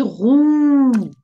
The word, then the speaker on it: roux: The X is silent.